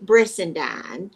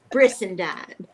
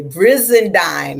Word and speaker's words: Brissendine: Yes, Brissendine rhymes President. with Frankenstein, rhymes with sunshine, and I had a little boy tell me it rhymed with quarter hind.